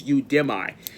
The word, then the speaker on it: Udemy: It is spelled Udemy. It's Udemy.